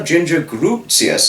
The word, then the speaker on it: Grutius: There's Heather, this is a different Heather Arredondo, Ginger Grutius. I used to pronounce it wrong, but it's Grutius, how one pronounces it, who said the lovely